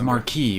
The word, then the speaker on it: marquis: i don't know why everyone pronounces uh marquis marquez in this i've always heard his marquee whenever i hear other media use that word his word alone convinces